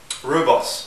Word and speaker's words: rooibos: Drinking some rooibos, or rooibos depending on how you pronounce it, and a lot of